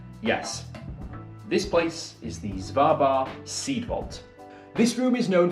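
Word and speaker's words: Svalbard: i checked that yes this place is the zvarbar seedvault this room is known for many things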